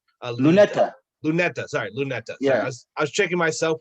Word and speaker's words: Luneta: of the process that is what makes sorry lunita uh luneta lunetta sorry luneta yes I was checking myself with the pronunciation and I messed it up completely yeah